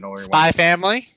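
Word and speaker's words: SPY×FAMILY: That's No, look That's- at next time you're watching Spy X Spy, whatever that is, Spy Family. whatever. The X is silent. It's just a Spy Family.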